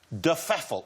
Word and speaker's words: de Pfeffel: De Pfeffel, am I saying it right? Yeah, I think so. Well, nobody... Well, no, we don't know exactly how it's meant to be pronounced. That's how my grandmother wanted it pronounced.